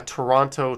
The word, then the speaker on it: Toronto: is like a a toronto tirana kind of thing right like usually people from toronto don't say the second t paranormal witness girl says